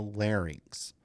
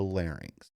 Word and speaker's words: larynx: nose, the oral cavity, the pharynx, and the larynx. This is a commonly mispronounced word.